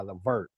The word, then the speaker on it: Levert: ever say it right cause i say baby i'm ready by gerald vert but it's really baby i'm ready by levert thank you it it